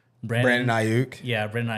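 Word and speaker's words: Aiyuk: I do not know how to pronounce this guy's last name. Brandon Ayuk. Yeah, Brandon Ayuk.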